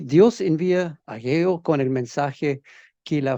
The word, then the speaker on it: Hageo: Después, Ageo o Hageo, depende de cómo quieres pronunciarlo, es lo mismo. Alguna Biblia lo tiene sin H, otros con H. Ageo, Hageo, no sé cómo quiere pronunciarlo. La mayoría tiene H, pero aún así se pronuncia Ageo.